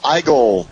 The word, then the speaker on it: Igle: is Rick Osman and I'm here with Jamal igel for invest Comics TV am I pronouncing that correctly Jamal you you got it